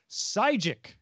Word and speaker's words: Sygic: google maps is now available for android auto sygic it's spelled s-y-g-i-c if you want to go look